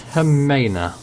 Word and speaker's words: Jimena: John of the name it's actually pronounced Hera okay glad we got